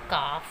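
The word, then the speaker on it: calf: एल के बाद अगर एफ आता है, एम आता है, के आता है और डी, तो एल साइलेंट रहता है। Means L becomes silent when उसके बाद जब क्या आता है एफ, एम, के, डी। फॉर एग्ज़ाम्पल एफ़ का एग्जाम्पल देखेंगे सबसे पहले हम। हाफ, काफ।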